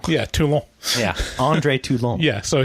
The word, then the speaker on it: Toulon: It's pronounced Toulon. Yeah, Toulon.